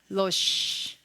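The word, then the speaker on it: ראש: 알레프가 왔는데 모음부호가 없어요. 발음해요? 안 해요. 그 다음에 쉰이 왔어요. 어떻게 읽어요? 로쉬.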